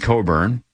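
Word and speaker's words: Cockburn: Her name growing up was Cochburn, even though it's pronounced Coburn, but everybody said the other way.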